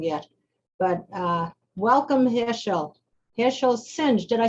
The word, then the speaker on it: Singh: Harshal Singh. Did I say the last name right? It's pronounced Singh, but it doesn't really matter.